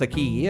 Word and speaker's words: Acqui: Acqui is pronounced the same way as a key.